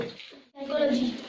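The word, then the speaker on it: psychology: अगर एस के पहले पी आता है तो पी का उच्चारण नहीं होता है।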